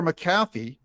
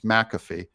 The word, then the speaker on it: McAfee: Supreme Court Days Later maffy McAfee sorry I've had you guys correct me on the pronunciation of his name that it's McAfee and I I I